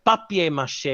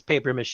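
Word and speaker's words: papier-mâché: green eggs and ham I hate it when people use the English word paper and then Mas because the proper term is Pap Mas that we just pronounced this paper M because none of us are French but it still needs to be spelled papier p a p i e r hyen mâché is the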